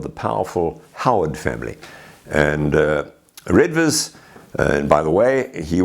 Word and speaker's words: Redvers: And his name was probably pronounced Reivers at that time. But let's keep it simple. We'll call him Redvers in this particular point.